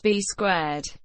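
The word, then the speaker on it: B²: rechristened to be - also written be squared and pronounced be squared B - helped Cena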